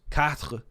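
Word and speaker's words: quatre: system like four is pronounced Kat which is like cat and then sank is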